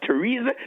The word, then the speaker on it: Theresa: the th1 this morning especially the one where the t is capital the H is silent that's why we have the river temps that's why we have Thailand that's why we have Theresa that's why we have